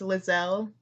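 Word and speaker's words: Liezel: I I've always been pronouncing it leisel, but that might be wrong. Uh, according to the wiki, according to Matt, it's pronounced Lzelle.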